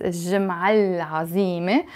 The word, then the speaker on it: الجمعة العظيمة: الجمعة pronounced as الجمعة العظيمة with a liaison.